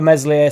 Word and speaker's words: Meslier: enough I was buzzing for meslier silent s because obviously got to